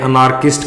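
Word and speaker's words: anarchist: वैसे हम आर का उच्चारण बहुत बार करते हैं, अनार्किस्ट कहते हैं इसको, लेकिन जब आप स्पीकिंग करोगे किसी भी वर्ड के बीच में OR, AR, UR जब भी आ जाता है तो आर का प्रोनाउंस नहीं होता, आर का प्रोनाउंस ए होता है, तो इसे अनैर्किस्ट बोलेंगे। हिंदी में कहते हैं अराजकतावादी।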